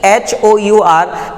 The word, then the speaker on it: hour: देखिए यहाँ पे अक्सर कंफ्यूजन होता है और यहाँ पर हम लोगों को ये ध्यान रखना है कि HOUR इसका उच्चारण बिल्कुल एकदम वॉवेल के जैसा होता है।